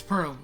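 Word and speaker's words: Perle: couldn't see it notes it's Pearl it's p e r l e I couldn't see if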